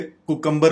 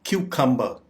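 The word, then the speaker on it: cucumber: इसको हम आम तौर पे कुकम्बर बोलते हैं, जो कि गलत है। इसकी दुरुस्त प्रोनाउंसिएशन है क्यूकम्बर। क्यूकम्बर, क्यूकम्बर।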